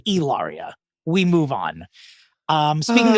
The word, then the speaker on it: Hilaria: it racistly inappropriate like it's supposed to be pronounced it's Elia we move on um speaking of someone who